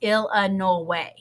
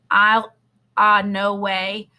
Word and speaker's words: Illinois: the Illinois State Line he pronounced Illinois's ill uh no way exactly the way everyone in by banks Kentucky pronounced it and hearing that I'll no way made me suddenly homesick